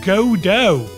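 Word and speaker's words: Godot: store cut next is God dot which apparently is pronounced goo go figure if you see what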